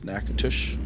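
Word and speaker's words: Natchitoches: It seems wet and nackintosh neatush knack is just it's nacush and then yeah The first see the first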